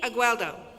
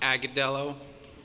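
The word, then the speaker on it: Agudelo: Agueldo. To correct that, it's pronounced Agadello, but I want to say thank you to my family.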